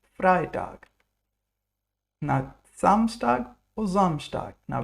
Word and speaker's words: Freitag: Is it Freitag or Freitag? EI makes I, so it's Freitag.